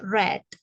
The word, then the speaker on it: read: pertamanya read bentuk keduanya penulisannya sama hanya saja cara membacanya berbeda yaitu red ya sama seperti ketika kamu mengucapkan warna merah Apa warna merah red ya sama ya R